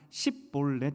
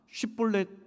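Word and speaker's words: שִׁבֹּלֶת: 근데 입다가 묘안을 발견한 것이 무엇이냐면 에브라임 사람만 발음을 다르게 하는 단어가 있었습니다.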